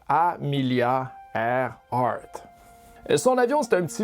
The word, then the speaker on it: Amelia Earhart: Elle s'appelle Amilia Herhard et c'est dur à dire ce nom mais ça se prononce Amilia Airhard.